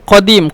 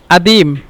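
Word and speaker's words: قديم: Jadid মানে গাদিত তারপরে কদিম কদিম মানে পুরাতন আর মিশরের ভাষা কদিম কে আদিম আদিম বলে কারণ কফকে হামজা এজন্য আর এই আদিম ভাষাটা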